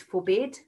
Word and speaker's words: forbid: commit commit two syllables so all of these root words have got two syllables you can have a practice of that if you like and we stress the last syllable when we're reading that word which is really hard